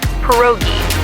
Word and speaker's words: pierogi: It's pronounced pierogi, a tasty dish like dumplings.